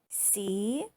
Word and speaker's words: cube: C-U-B-E. Here is you and Magic E. U says you. And Magic E is silent or quiet.